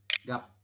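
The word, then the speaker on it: 값: ada dua teman-teman G Jadi kalau ada EMP huruf seperti ini kan ada empat huruf ya gek vokal a b dan Ben engak ini and bacanya hanya tiga saja tiga huruf huruf terakhir tidak dibaca jadi kita membacanya gimana dibacanya hanya gap seperti ini Oke bisa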